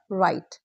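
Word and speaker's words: write: pronounce किया जाता है राइट डब्ल्यू आर आई एस टी रिस्ट डब्ल्यू आर ओ एन G wrong golden rule if a word starts we डब्ल्यू R don't pronounce W just ignore it completely very easy rule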